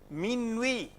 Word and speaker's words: minuit: Minuit, you don't pronounce ta.